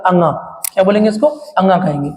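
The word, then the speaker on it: ङ: अब ये जो दिया है दोस्तों, इसका प्रोनाउंसिएशन क्या होता है, अंगा।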